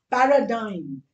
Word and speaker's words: paradigm: Now somebody's asked me for paradigm.